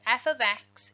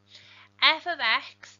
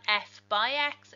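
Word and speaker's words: f(x): some pieces to note f of x this is pronounced f of x it's important to get used to saying that correctly because it is not f by x it is not multiplication it is something very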